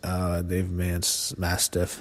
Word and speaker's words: Dave Mastiff: They had TLC matches on the independents, but I think he beats Dave Mastiff, that's how you pronounce his name.